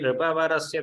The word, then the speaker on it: नृपवरस्य: Kathyate nripavarasya, that's how it should come. Because nru is not a samyukta akshara, and that's how it should be pronounced.